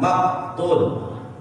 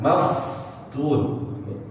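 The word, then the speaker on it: مفتون: Fa yang bersukun dia harus ada udara keluar. Maftun, ya. Bukan maktun.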